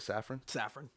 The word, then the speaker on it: Safran: I think we do because with him and Peter Safran, that's how you say it, Safran.